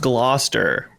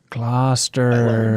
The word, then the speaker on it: Gloucester: It's pronounced Gloucester. Gloucester.